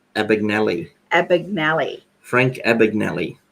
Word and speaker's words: Abagnale: based on Frank Abagnale how do you say his last name in the movie they said it a big Nellie epic malli Frank Abagnale